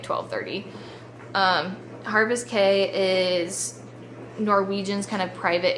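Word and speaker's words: Caye: I know there's always a little discrepancy on how everyone pronounces that. C A Y E. Um, but I think it's Harvest K.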